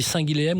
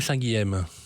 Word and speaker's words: Saint-Guilhem: Ça dépend où est-ce qu'on se situe. En Île-de-France, c'est plutôt Saint-Guilhem, et quand on est à côté de Saint-Guilhem-le-Désert dans le sud, et effectivement la prononciation est différente.